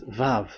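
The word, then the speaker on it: ו: So it's V as in Vogue. So it's really V. How to read Vogue? So the word, the shape Vav is really pronounced V, like Vogue.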